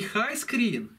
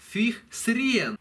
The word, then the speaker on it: Highscreen: И с нашим великолепным знанием английского мы прочли первый раз, как только его увидели, название не high screen, а fih sren.